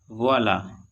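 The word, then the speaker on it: voilà: वोला, इसमें ए पे आया है ग्रेव एक्सेंट, इसका प्रोनाउंसिएशन वोला।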